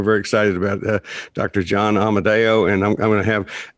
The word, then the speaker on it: Amodeo: pronouncing your last name correctly how do we pronounce your last name yeah amadeo emma look at you already he's